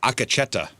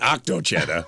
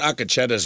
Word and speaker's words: Akacheta: Not octo-cheta. Oh. I thought Akacheta's when you sing really high. That's like a Bee Gee, right? Like one of the Bee Gees. It's he sings Akacheta. How do you spell it? A K E Oh, A K E. Uh-huh. C H E T A Okay.